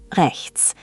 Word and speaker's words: rechts: Now, right is rechts. This one has a bit of a tricky ch sound, like the ch in lock or Bach, but try to make it softer, almost like you're clearing your throat gently.